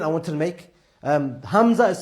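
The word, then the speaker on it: همزة: Hamza begins with a which is at the bottom of the throat and the way to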